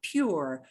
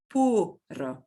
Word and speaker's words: puro: Next, and this one is where your English is going to want, your English brain will desperately want to say puro, not pure, puro, puro, puro, puro.